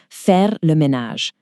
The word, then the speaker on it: faire le ménage: To do the housework is faire le ménage.